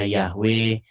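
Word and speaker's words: Yahweh: Cuman ada orang merekonstruksi bagaimana cara membacanya. Ada yang membacanya Yahwe, ada yang bacanya Yehova. Begitu.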